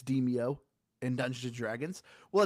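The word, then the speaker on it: Demeo: a dumb American like me, I just kept pronouncing it Demio, but apparently it's pronounced Demio.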